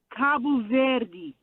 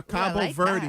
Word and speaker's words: Cabo Verde: Cabo Verde. Yeah, that's not where he's No, at. no, that sounds better. Yeah, Cabo Verde. that. Yeah, say it I've like just that. heard Cape Cabo Verde.